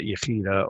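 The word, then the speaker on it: יחידה: First, you have the divinity of the soul, which some people pronounce that Yechida, or they pronounce it with kind of a K instead of the CH.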